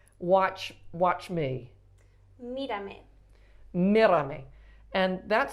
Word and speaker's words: Mírame: I want to say the E on the end, but it's an A sound, right? Mírame. Mírame.